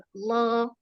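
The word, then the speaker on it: الله: Lam tebal, lam tipis pembahasannya di lafaz Allah, ya. Misal, inna Allah, Allah, bacanya lamnya tebal, Allah. Kalau tipis, la, senyum, la, Allah, seperti itu.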